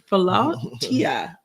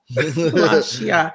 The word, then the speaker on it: philautia: And I'm going to let you pronounce it so I don't mess it up. I said PHILAUTIA. PHILAUTIA.